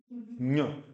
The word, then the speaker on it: ञ: ञ, जहां से च का प्रोनाउंसिएशन किया आपने, वहीं पर जीभ लगा के इसको बोलो।